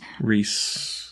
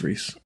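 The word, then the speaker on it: Rhys: we got noticed by the man the legend Rees rise it's Reese oh it's Reese yeah sorry I just butchered that you probably turned off but he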